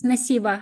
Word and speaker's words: Nasiba: Nasiba? Is that how you say it? Yes, Nasiba.